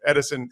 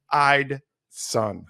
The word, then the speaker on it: Eidson: Most people pronounce his name incorrectly as Edison. That is incorrect. So it's true. Eidson.